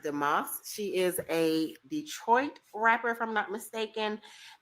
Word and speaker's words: DeMoss: I think her last name is pronounced DeMoss.